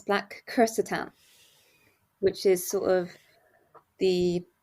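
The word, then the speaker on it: Black Krrsantan: I've he to pronounce black Catan which is sort of the literal sort of way if you say it because he's got two RS in his name so you roll that first big Catan and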